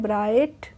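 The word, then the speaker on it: bright: look of ब्राइट happiness इसको हम पढ़ते हैं ब्राइट जो जीएच होती है वह हम साइलेंट रखते हैं तो हो जाएगा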